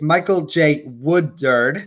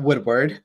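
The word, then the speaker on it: Michael J. Woodward: Michael J Woodward mutters I keep saying his name wrong it's Michael J Wood derd not Woodward he's doing for his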